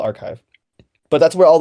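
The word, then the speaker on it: arXiv: published and actually like on archive um or I think that's how you pronounce it it's r a r x IV I think it's called archive but that's where all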